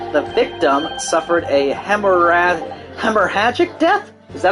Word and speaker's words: hemorrhagic: to this document the victim suffered a hemorrhage hemorrhagic death is that how you pronounce it hemorrhagic hemorrhagic okay due to gunshot trauma learn